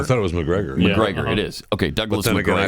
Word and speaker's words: Macgregor: Mike McGregor McGregor I thought it was McGregor McGregor it is okay Douglas I thought he was